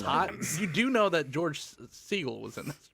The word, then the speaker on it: George Segal: You do know that George Segal was in this, right?